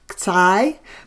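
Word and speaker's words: ξ: So this is pronounced as xi, but usually we will refer to it as squiggle.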